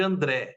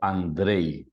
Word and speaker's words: Andrej: lá vamos lá então Andrei Andrei é o correto aquele J no final tem som de i em esloveno né mas então você